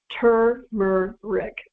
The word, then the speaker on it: turmeric: pet peeve of mine everyone everywhere pronounces it turmeric there's an r in there people let's start correcting that I mean really so let's start pronouncing this amazing root by its proper name turmer Rick okay turmeric not turmeric